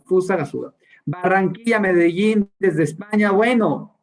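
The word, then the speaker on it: Fusagasugá: Vallarta, de Zamora, Querétaro, Pasaguaba, no, lo pronuncié súper mal, Gasuga, qué mal lo pronuncié, Fusagasuga, no se me olvida, Fusagasuga.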